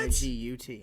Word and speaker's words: Nigut: N-I-G-U-T. Nigut. Okay. I tried to It's bad spell it journalism, how it maybe.